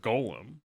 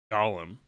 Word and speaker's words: Gollum: Moomin lady's depiction of Golem. Mm-hmm. Gollum. I was corrected. Gollum. Yeah. You've been saying it wrong.